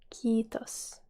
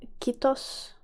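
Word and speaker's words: kiitos: is quitos pretty easy a lot of people tend to go for kittos like a short eye but here you need to remember that the eye is long if there is two of the same vowel next to each other in finnish words that means that the vowel is long so your extension i did when you say it and next we're gonna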